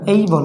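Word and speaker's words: able: এটা বলতে পারো এবল, এটা এবল না, এটা হবে এই বল, কারণ এর উচ্চারণ হলো এই লেটার ক্লাসটা আমার ফার্স্টে দেওয়া আছে, তারপরে আমি এই লেটার ক্লাসটাকে আবার নিতে যাচ্ছি।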